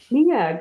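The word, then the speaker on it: Neag: professor of literacy education at the is that pronounced NE nag nag good for you school of education at the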